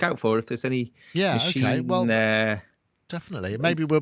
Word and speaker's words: Maschine: Oh yeah, it is Maschine.